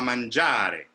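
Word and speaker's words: mangiare: it so andiama manjari i know that you have to land on manjari and the last syllable doesn't disappear but it definitely doesn't have the same kind of importance that manjar the ja has or for example um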